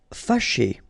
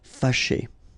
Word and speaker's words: Fâché: Fâché. Okay, so remember that here, even if you've got this accent circonflexe on the top of A, well, technically it doesn't really change the pronunciation. Fâché.